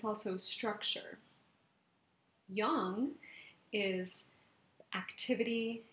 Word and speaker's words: yang: yin and yang and most people call it yin and yang right but actually the Chinese pronunciation is Young and this is the